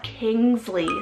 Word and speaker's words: Kingsley: and Essie means God's promise then I have Kingsley spelled k-i-n-g-s-l-e-y Kingsley another gender neutral option here